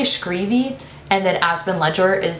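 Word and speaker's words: Schreave: I say Maxon's last name as Screevy, and I don't think that's right because I've heard a lot of people say Shrev, and I think that's really gross. So I say Screevy, and then Aspen Ledger is the other love interest.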